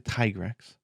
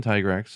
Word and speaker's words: Tigrex: three yeah yeah so molten tigrex i said tigger actually again tigrex molten tiger x is definitely the correct pronunciation is it's not a no dragon i